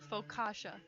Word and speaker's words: focaccia: on the focaccia oh that's how you pronounce the bread see folk wait wait wait wait Emily what is it faux kasha thank you very much